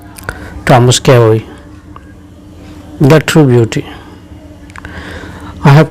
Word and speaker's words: Carew: It is pronounced Carey. Thomas Carey.